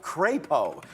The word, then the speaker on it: Crapo: We got a super chat earlier from Mike Crapo. He did correct me on the pronunciation of his name because it was C-R-A-P-O. So I said something else, but it's Crapo there.